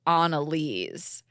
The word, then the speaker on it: Annelise: my name is oh her name is pronounced Analise but the anal nicknames